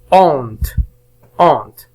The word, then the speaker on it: honte: honte. إذا لدينا هنا H لا ينطق honte.